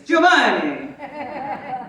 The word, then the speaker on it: Giovanni: She said it wrong. She's Mexican, so I understand. It's Giovanni.